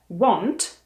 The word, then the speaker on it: want: Čte se want, něco jako od Foglara, velký want, akorát na začátku vyslovíte anglické dvojité V, wa, want, want.